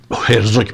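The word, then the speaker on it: Herzog: اینا هم یه جورایی میخوان زمینه سازی بکنن، اومدن اخیراً یک خاخامی رو، این آقای جاکوب، یعقوب هرزوک آش داره، آشش فرانسوی هم تلفظ نمی کنن، خب هرزوک میگیمون.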